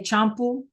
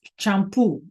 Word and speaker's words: champú: And we have to have that accent so that we don't say champoo. It's champoo, right?